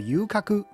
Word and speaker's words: 遊廓: 在日文发音里面，游廓跟游郭的发音都叫做 yukaku，所以两个写法其实都通用。